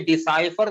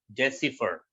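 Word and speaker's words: decipher: अब ये डिसाइफर नहीं पढ़ा जाएगा, प्रोनाउंसिएशन चेंज हो गया इसका। अब सारा स्ट्रेस जो है वो DE के ऊपर आ गया। ये डिसाइफर नहीं पढ़ा जाएगा, ये पढ़ा जाएगा डेसिफर।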